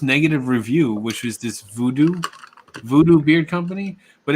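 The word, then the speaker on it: Voodoux: voodoo men's crap it's voodoo beard company it's spelled like voodoo v-o-o-d-o-u-x yeah um well if you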